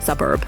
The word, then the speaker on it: suburb: gradually move on to trickier words like suburb stress on the first syllable not the second embrace the music think